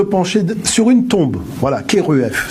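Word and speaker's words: Kheruef: sur une tombe voilà keruf ça s'écrit kherf d'aller voir ces scènes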